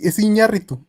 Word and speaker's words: Iñárritu: Like I sometimes say Iñárritu when I know it's Iñárritu. I say Iñárritu. So there you go. No, it's Iñárritu. It's Iñárritu.